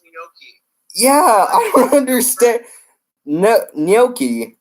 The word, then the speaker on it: gnocchi: He wants you to pronounce gnocchi.